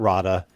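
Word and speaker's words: Rahda: No, not that, Roda. This one is spelled R A H D A and it's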